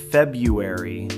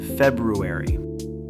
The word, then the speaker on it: February: This one has 2 R's in the spelling, February, but almost everyone drops the first one in casual speech. It becomes February instead of February.